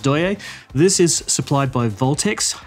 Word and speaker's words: Deye: familiar with the name d ye uh it's pronounced do this is supplied by voltex so it's the